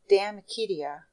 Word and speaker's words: De Amicitia: We've finished Livy and De Senectute, and now engaged with De Amicitia, pronounced De Amicitia.